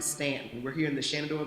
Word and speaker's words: Staunton: a little bit it's Stanton Virginia I know it's spelled Staunton but they pronounce it Stanton we're here in the